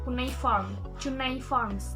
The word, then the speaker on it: cuneiform: Di sini ini namanya cuneiforms, dibacanya cuneiform. Si cu-nya ya.